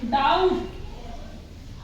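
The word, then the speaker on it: doubt: उसके बाद है डाउट डी ओ यू बी टी डाउट ठीक है इसको कैसे बोलेंगे डाउट यहां पर भी बी हमने नहीं बोला अब जो मैंने ये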